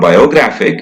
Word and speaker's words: biographic: It becomes a weak schwa sound because the stress is not there. Stress is far away. In g, biographic. So remember that biographic. It's not biographic.